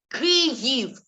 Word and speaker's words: Kyiv: So I call it Kiev in Russian pronunciation. Aber jetzt ist es Kyiv, Ukrainisch accent.